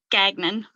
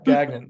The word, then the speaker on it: Gagnon: those random weird things my housemate has the same last name he pronounces Gagnon yeah Gagnon yeah that's that's probably like um the majority of how people say it throughout the country I live up here in French country and uh yeah we use a French French pronunciation pronunciation so um which is